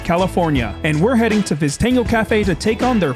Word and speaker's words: Viztango: Is Viztango the correct way to say it?